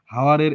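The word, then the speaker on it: hour: একটা সাউন্ড এটা হচ্ছে আমাদের উচ্চারণ হওয়ার কথা ছিল হাওয়ার হাওয়ারের এইচ আমরা বাদ দিয়ে দিলাম শুধু উচ্চারণ করলাম হাওয়ার তাহলে এই যে এইচ এইচ কে বাদ দিয়ে দিলাম এই বাদ দেওয়ার প্রসেসটাকে বলা হচ্ছে ইলিউশন অনেস্ট হনেস্ট কে আমরা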